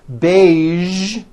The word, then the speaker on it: beige: television very good now there are only a few words that have the voiced sound at the end a few of these words are the color beige the word massage and the word prestige okay now that you